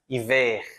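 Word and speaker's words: hiver: Eu vou pronunciar também o R meio gultural aqui, né? Iver. Iver, ele r da garganta, né?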